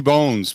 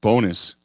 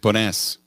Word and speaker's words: Bones: it was uh ricky bones but he's pretty it's pronounced bonus it's like bonus yes i get it